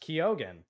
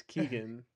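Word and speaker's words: Keoghan: uh Barry kogen confirms that his name is pronounced kogen something to keep in mind that's our that's our last piece of news um I used to say his name is Keegan yeah he confirmed that the pronunciation is kogan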